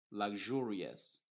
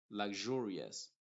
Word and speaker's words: luxurious: Por ejemplo, lag, pronuncio hasta la G, lag, y luego jur, luxurious, luxurious. Mientras que en la otra palabra, la X está formando el sonido K más la SH, luxury.